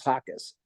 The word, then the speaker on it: Jaques: Now, my last name is Hawkes, but it looks different. It's a Spanish name. So it's spelled Jaques.